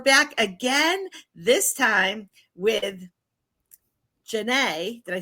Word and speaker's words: Janneh: We're back again, this time with Janneh.